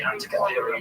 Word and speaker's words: Antikythera: The thing you get to, how do you say that ancient Greek symbol, the ancient Greek mechanism that they found, the antikythera, that's it.